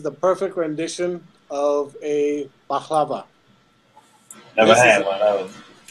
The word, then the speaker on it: baklava: I thought he said a bahava. No. Baklava. Yeah, he pronounced it correctly. I pronounced it like the American way.